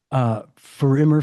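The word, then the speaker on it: Für immer: artist is Mark Forster, and the song is For Immer Forever. Did I pronounce that correctly?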